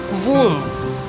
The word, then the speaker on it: womb: Womb. W-O-M-B. B is silent. It's womb.